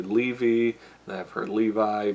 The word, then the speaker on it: Levi: cuz like some people I've heard him say levy and I have heard Levi but if he says it's Zachary Levi then it should be Zachary Levi but he was very friendly with all the